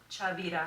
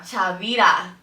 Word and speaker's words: Chavira: Chavira. Chavira. Okay. Chavira.